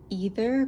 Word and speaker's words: Aether: of the Teal Swan I think it's pronounced either creatures oracle cards I